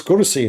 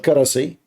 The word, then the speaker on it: kursi: I mean, it's kursi, not karasi.